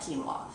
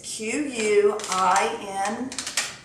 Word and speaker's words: quinoa: Like if you like a traditional chicken and rice dish, do chicken and white quinoa. Okay. So let me also say this, people. It's Quinoa. It is not pronounced quinoa.